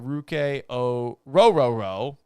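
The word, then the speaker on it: Ruke Orhorhoro: a run on defensive tackles you had uh ruk o rooo that's actually how his name is pronounced from Clemson going to the Falcons at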